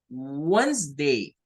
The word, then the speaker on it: Wednesday: El error más frecuente que tenemos como latinoamericanos es venir y tratar de decir esto como Wednesday. Está malo, porque no son 3 sílabas, son solo 2 syllables, solo son 2 sílabas.